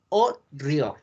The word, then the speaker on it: Haut-Brion: Tenemos un vino que se llama Chateau Haut-Brion. Haut-Brion. Es que la T no se pronuncia.